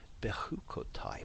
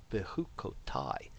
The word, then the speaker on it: Bechukotai: And remember the I, Bechukotai, the I sound at the end of a word is the Hebrew for my.